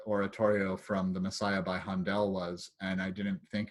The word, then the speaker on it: Handel: It's pronounced Handel. And she's like, do you have a degree in music? I said, no, but I'm a native English speaker, and he was a German who lived in England.